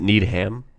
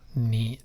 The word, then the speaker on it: Neiman: Is it Needham? Neiman. Neiman, like Neiman.